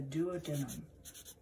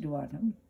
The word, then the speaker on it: duodenum: The first part of the small intestine is going to be the duodenum. The duodenum. And so let's list the parts of the small intestine. The duodenum. You may have heard it pronounced duodenum.